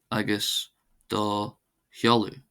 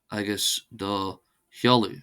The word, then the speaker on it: agus do sheoladh: Agus do holu. Agus do holu which means and your address.